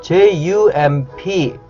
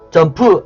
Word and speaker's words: jump: 하다 라는 뜻이구요 그다음 jump 점 점프 아니구요 점 이 짬 jump 점 말그대로 점프 한다는 뜻입니다